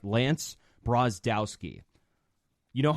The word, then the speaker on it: Brozdowski: Let me get the pronunciation of his last name right. Lance Brozdowski.